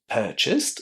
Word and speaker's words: purchased: Purchased is pronounced with the t sound at the end, while realized is pronounced with the d sound there.